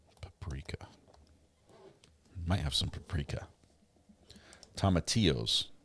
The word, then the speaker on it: tomatillos: Tomatillos. Oh, the L is silent.